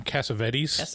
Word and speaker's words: Cassavetes: I think it's actually pronounced John Cassavetes, which is confusing because the character name is Cassavetes.